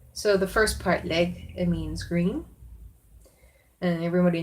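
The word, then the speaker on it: laeg: And they use this word leg or lag in the other dialects of Sindarin. But the wood elven pronunciation is leg.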